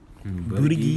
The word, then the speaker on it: Buttigieg: And Pete, I'm not even going to try to pronounce his last name. Mayor of Indiana, South Bend. Pete. Was it Buttigieg? Buttigieg it is.